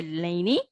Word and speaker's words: Laney: it p prime okay how to pronounce it it's a laney p prime okay so go to